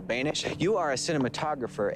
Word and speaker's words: Boenish: My guest name rhymes with Danish. His name is Carl Banish.